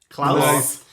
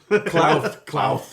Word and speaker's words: Klauth: Okay, I'll open up the dragon discussion with the ancient red dragon known as Klauth. Klaus. Klauth. Oh, I Klauth with the list. That's what I led into the German pronunciation.